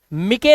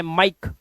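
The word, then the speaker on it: mike: हमारा कह रहा है जब किसी वर्ड के लास्ट में ई आए तो ई का उच्चारण नहीं करते अभी बताया था हर एक वर्ड के लास्ट में ई आया हुआ है उसे साइलेंट रखना है किसे साइलेंट रखना है हमें ई को तो इसे हम पढ़ेंगे लाइक लाइफ शेयर शेरे नहीं मिके नहीं पढ़ना है माइक इ भूल जाओ बाइक बिके मत कर देना बिके फटे फटे नहीं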